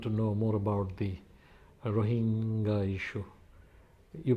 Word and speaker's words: Rohingya: I've been told that you want to know more about the Rohingya issue. You pronounce it as Rohingya. Oh, we heard people saying Rohingyas, but some people saying Rohingya.